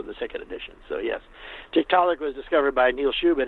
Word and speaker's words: Tiktaalik: the cover you have i i'm assuming i'll pronounce this correctly tiktaalik yep the first edition had archaeopteryx but then i picked a different transitional fossil for the second edition so yes tiktaalik was discovered by neil schubert name is chicago